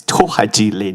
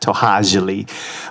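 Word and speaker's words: Tohajiilee: Many of you probably know it as Tohajili, but I always correct folks with pronunciation. Maybe because I'm a language teacher, I would say it's Tohajili, not Tohajili.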